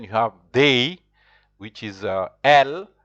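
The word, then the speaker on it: elles: And then you have they, which is L. Also, the ES is not pronounced.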